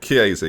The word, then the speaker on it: Chiesa: I'm looking at Chiesa. Is that how you say it? Is that how I say it? Chiesa, yeah.